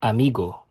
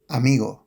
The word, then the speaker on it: amigo: instead of vida, The word for friend is normally pronounced amigo, instead of. amigo, There also tends to be